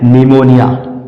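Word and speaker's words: pneumonia: P silent होगा और ये क्या लिखा हुआ है निमोनिया निमोनिया तो निमोनिया की स्पेलिंग कुछ इस तरह से होती है पी से शुरू होती है और पी इसमें जो है साइलेंट होता है उसी तरह से आगे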